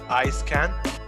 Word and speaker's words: Eiskant: 75 75 and we are joined by daniel ice can i say that right now you got it